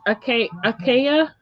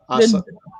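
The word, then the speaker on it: açaí: I had blackberry, blueberry, acacia. How you say that? Acai.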